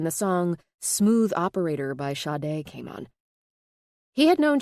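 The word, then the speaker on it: Sade: song Smooth Operator by Shade came on. He had known Chi-Chi for about a year and it finally hit him. That's who she reminded him of. Shade Adu, pronounced Sha.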